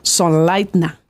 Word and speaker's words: Sonnleitner: impronunciable voy a deletear se escribe s o n n l e i t n e r pero se pronuncia nos has dicho sonlight na correcto cor de origen austriaco